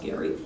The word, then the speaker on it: Gerry: in massachusetts governor eldridge gary it's actually pronounced gary um produced a district